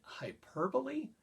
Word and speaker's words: hyperbole: is some and by the way George we pronounce it hyperbole I know it's spelled hyperbole but it's a